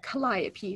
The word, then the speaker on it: Calliope: there so that hopefully I don't end up mispronouncing it but Calliope so they are the smallest North American breeding